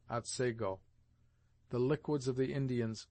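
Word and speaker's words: Otsego: Thus the scene of this tale is spelled at seiggo and is properly pronounced at sego.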